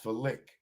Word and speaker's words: phallic: Pronounced phallic. Wow. Phallic, like fellatio, phallic.